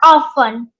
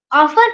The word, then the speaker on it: often: will be usually or often. Often or often, you can say both pronunciation is correct.